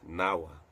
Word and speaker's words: nava: Nava, the Sanskrit word for ship, was pronounced as Nawa.